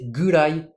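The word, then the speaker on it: ぐらい: Ces particules, kurai et koro, on va souvent les prononcer gurai et goro. En fait, ici, on met juste un dakuten pour faciliter la prononciation.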